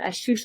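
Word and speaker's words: Ashutosh: pronunciation of your name, you said Ashtush like Macintosh. Ashtush Yes. like Macintosh.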